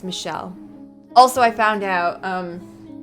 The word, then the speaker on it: Michel: to at this point is a French name so it's not Michael it's Michel and that's why I'm